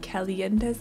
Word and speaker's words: Calientes: But today we're building the other 40 by 30 in this little area where the Calientes normally live. Yes, that's how you pronounce it.